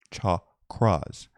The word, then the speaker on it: chakras: Here in the most ancient of spiritual texts, the Tantras speak of psychic centers known as chakras, pronounced chakras, which exist in the energy field around our bodies.